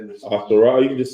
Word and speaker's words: Ahasuerus: Ahasuerus. You can just say Xerxes. Ahasuerus.